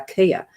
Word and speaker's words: chia: And the same as chia seeds are not pronounced that. They're kia.